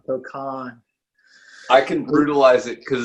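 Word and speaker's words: Cokan: How would you say that in California? Wait, spell it again. C-O-K-A-N. Kokan. I'm from the South. We're putting, Cocaine. we're cocaine. Yeah, that's Cocaine. not it. Yeah, don't brutalize the name here. Kokan.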